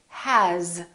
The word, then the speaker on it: has: a z for example the word has it's spelled with an s but the sound is actually z has here's another one this